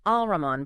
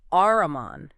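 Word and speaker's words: الرحمن: Ah, so it's not Al-Rahman, but Ar-Rahman. The L disappears into the R.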